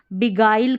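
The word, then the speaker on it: beguile: GUI के दूसरे उच्चारण और भी इनके क्या उच्चारण देखिए, यहाँ पर जैसे ये है बिगाइल करके पढ़ा, ये गाइल, ठीक है, गाइल करके पढ़ा जा रहा है, और ये डिसगाइज, डिसगाइज इस तरीके से।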